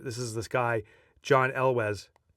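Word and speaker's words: Elwes: This is this guy John Elwz. Elwez. So there's the pronunciation.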